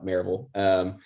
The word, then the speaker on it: Maryville: It's spelled Maryville, but we call it Maryville.